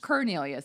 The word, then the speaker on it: Cornelius: Cornelius actually is the correct pronunciation.